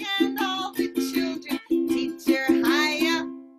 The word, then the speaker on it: Chaia: Teacher Chaia, that's me, that rhymes with papaya.